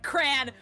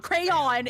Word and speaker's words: crayon: It's cran. Okay. No. M. You're also from Illinois. It's cran. Correct. That is how you pronounce it. It is. There's no two syllables. It's not crayon. It's cray.